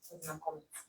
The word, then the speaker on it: познакомиться: Remember that pronounce like ца. Right? Познакомиться.